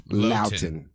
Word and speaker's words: Luiten: Luiten, like shouting, but it's Luiten.